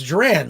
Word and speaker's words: Joran: And he reminded me, he says Duran, like Duran Duran.